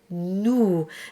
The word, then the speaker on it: nous: And then you have nous, and that's a completely different shape. Nice and round, very much like an owl.